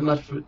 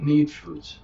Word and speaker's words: Mute Fruit: It's not mud fruit, but mute fruit. Mute fruit.